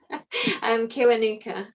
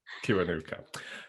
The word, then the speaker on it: Kiwanuka: Oh, see, how do I pronounce the surname? I should have checked this before we started. Kiwanuka. Kiwanuka.